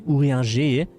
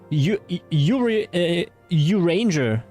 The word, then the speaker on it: Urianger: I mean, I can pronounce him properly, Urianger, but I find it more funny if I'm like this. It is French, okay. We can also call him Uranger.